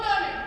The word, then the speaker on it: Dunder: Reindeer who don't respect me at all because my name is Dunder. It rhymes with blunder.